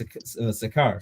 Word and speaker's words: Sychar: Yes, Sakar.